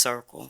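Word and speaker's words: CRCQL: I am the chairperson of Chester Residents Concern for Quality Living, or pronounced CIRCLE.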